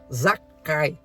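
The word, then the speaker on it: זכאי: Zaqueu, em hebraico, é pronunciado como Zakai, que significa absolvido, inocente.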